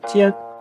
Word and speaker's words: 缣: 这个字念作念兼，和它右半部分的读音是一样的。